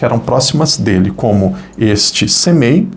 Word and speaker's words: Semei: o nome dele era Semei, imagino que é assim que pronuncia, S-E-M-E-I, e ele vinha,